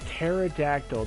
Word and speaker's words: pterodactyl: how to pronounce that pterodactyl the p is silent soar into battle get